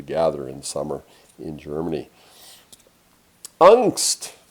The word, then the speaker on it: Angst: Angst. Angst. Well, there is a word that we use sometimes. We talk about people who have angst. And they usually pronounce it a little bit differently.